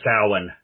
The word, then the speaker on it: Samhain: Is it actually Samhain, or is it like the old Halloween version, that like they talked that Halloween movie, the Samhain? Yeah, well, that's the correct pronunciation, but we always figured it was too confusing for people, so we just went with the spelling, I guess.